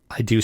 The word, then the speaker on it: id: I always said id, but... Yeah, so have I. Yeah, I've heard it ID Software too, but I think it's id.